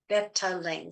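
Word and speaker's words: betalains: Betalane, that's how you pronounce it.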